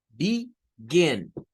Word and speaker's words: begin: Y tenemos el ejemplo con begin, begin. Noten que ahí en la gen se sube el tono de voz.